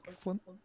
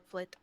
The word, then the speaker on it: Flit: can you roll a dexterity check for me real quick, Flint? Flit. And not flick.